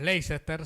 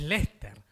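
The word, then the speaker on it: Leicester: las pronuncian o sea el equipo de fútbol que nosotros llamaríamos leester si lo leemos en castellano es Lester le faltan cinco letras yo tenía recién una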